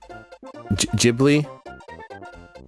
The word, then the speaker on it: Ghibli: Could also do Ghibli. Tell me that's the right pronunciation.